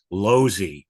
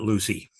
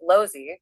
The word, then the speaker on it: Losey: what's up hey folks just a note Ralph pronounces his last name Loy uh not Lucy oh thanks for that pronunciation correction Dom yeah